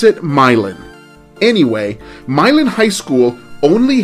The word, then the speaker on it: Milan: the stuff of legends by the way myelin is spelled m-i-l-a-n and it looks like it should be pronounced milan as in milan italy but in indiana they pronounce it myelin anyway milan high school only had 167 students